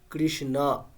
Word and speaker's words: কৃষ্ণ: কিন্তু সংস্কৃতে যখন আমরা উচ্চারণ করব অকারটাকে আমরা অকারই বলব। তো শব্দটা এরকম শোনাবে। কৃষ্ণ রাম।